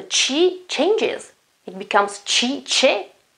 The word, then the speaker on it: che: Same goes for che. Che cosa? What? Che cosa? It means what.